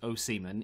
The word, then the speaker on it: Osimhen: of the season victor o'seaman now his name is apparently pronounced oh seaman even though a lot of people say osaman o simmon and and whatever i've